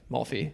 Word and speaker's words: Maui: The Mauy Coast. Yeah. Yeah, Maui is probably the correct pronunciation, but if you if Dude, the risoto or not the risoto, the ricotta cake.